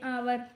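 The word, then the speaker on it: hour: हम हावर नहीं बोलते। आर बोलते हैं आवर।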